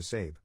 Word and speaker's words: Sabe: To cut right to the chase, I legally changed my name to Sabe, pronounced like Abe, but with an S.